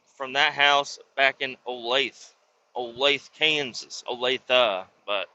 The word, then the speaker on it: Olathe: I'm just the memories that I have from that house back in Olathe, Kansas, Olathe, but it's spelled Olathe, Olathe, Olathe, Olathe.